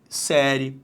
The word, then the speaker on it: série: Então, repare, se agora eu fiz esta divisão, acompanhe, a sílaba tônica deixou de ser a penúltima e passou a ser a antepenúltima. Então, por isso que palavras como série, história e empresário, isso cai muito em provas CESP, UNB.